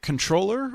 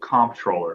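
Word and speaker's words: comptroller: I pronounce it comproller because that's the way it's spelled, but it's certainly an internal debate that's continuously happening within the agency and outside the agency as well.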